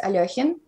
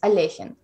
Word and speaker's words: Alekhine: that be yeah yeah sometimes even even russians sometimes pronounce it as aliajin the real um as far as as far as i know the the real uh last name is alejin alichin okay okay yeah